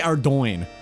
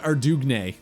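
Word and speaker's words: Ardougne: I say Ardo. When I was a kid, I called it Ardugn.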